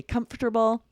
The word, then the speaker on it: comfortable: Both Lindsay and I say comfortable. There are definitely 2 options here.